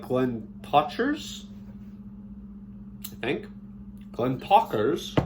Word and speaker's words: Glentauchers: Glentauchers, more like talk, with a little roll in it.